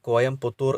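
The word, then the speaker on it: கோயம்புத்தூர்: തമിഴ്നാട് സർക്കാർ പേര് മാറ്റിയ സ്ഥലങ്ങൾ കോയമ്പത്തൂരിൻ്റെ പേര് കോയംപുത്തൂർ എന്നാക്കി മാറ്റി.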